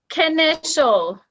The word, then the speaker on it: Knischel: I have been saying your name wrong for a while then. I'm so sorry. Say again. Initial? I'm good. Initial.